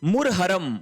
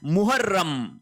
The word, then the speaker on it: मुहर्रम: फिर देखिए मुरहरम। मुरहरम नहीं होता है। शब्द होता है मुहर्रम।